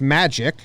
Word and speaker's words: Majid: to keep him company Majid pronounced magic majid nickname magic majid